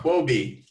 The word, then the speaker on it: Huobi: Correct me if I'm saying it wrong. Huobi. I did confirm. I believe that is the correct pronunciation.